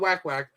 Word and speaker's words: WakWak: The reason why we call it WakWak is actually the proper pronunciation is WakWak, right?